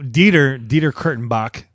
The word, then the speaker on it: Dieter Kurtenbach: So, Dieter Kurtenbach, it's spelled exactly how it sounds, Exactly.